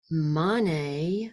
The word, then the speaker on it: mani: not be Jonathan let's go over the actual pronunciation it's a very um short Mantra and it is om om um money money Padme Padme um let's say that together